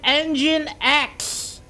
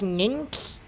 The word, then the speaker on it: Nginx: Kuro is Engine X. See, I actually do not know how to pronounce it, and I strongly was trying to avoid pronouncing it as Nginx.